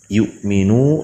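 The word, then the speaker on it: يُؤْمِنُ: Alladzi alladzi, lalu yu'minu di situ ada hamzah berharakat sukun, maka ketika membacanya yu'minu, jangan yu'minu, karena di situ adalah huruf hamzah. Yu'minu sedikit-sedikit dihentakkan.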